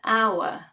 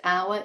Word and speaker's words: hour: That's why we say an hour, because the H in this word, hour, is mute. It's not pronounced. The first sound we hear is a, an hour.